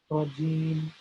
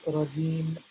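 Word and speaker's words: رجيم: And then we end with rajim, rajim. Nothing special here. You just say rajim, R-A-J-E-E-M, the way you see it, the way you say it, right?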